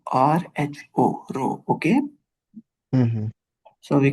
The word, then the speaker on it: rho: it's a Greek letter rho, R-H-O, rho. Okay, Mm-hmm. so we cannot pronounce it as P.